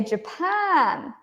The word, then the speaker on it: Japan: England England Scotland Ireland do I say ja Jaan no I say Japan Japan Japan Japan so here England and Japan they both have two syllables right but the stress is different the stress is different